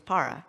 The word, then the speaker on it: Parra: Also, my last name is Parra, which is pronounced like the Shabbat Parra.